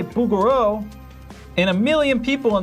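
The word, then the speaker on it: Bouguereau: You think it's bugaroo?" If if the actual French pronunciation of bugaro is like it's a it's the the French throat sound.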